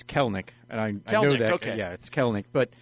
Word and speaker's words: Kelenic: And by the way, I mispronounced it. It's Kelenic.